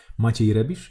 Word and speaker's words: Maciej Rebisz: it as well by Maciej Rebisz, who happens to be Polish, so I can actually totally mispronounce this person's name. Maciej Rebisz? Yeah, totally. Like, no, that's the way you actually pronounce it.